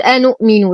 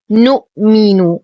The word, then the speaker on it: نؤمن: هذه الألف هي ألف فارقة لا تنطق، لا نقول أنؤمن، لا يوجد همز هنا، وهذه من الأخطاء الكثيرة الشائعة. قالوا نؤمن وليس قالوا أنؤمن، وهذا خطأ. السلام عليكم ورحمة الله وبركاته.